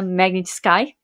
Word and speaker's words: Magnitsky: negativas das sanções da lei Magnitisk ou de acordo com a pronúncia americana Magnet Sky para o Alexandre de Morais.